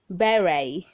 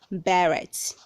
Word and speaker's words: beret: 45 we have berry beret beret not barrett note the letter t is silent remember to visit my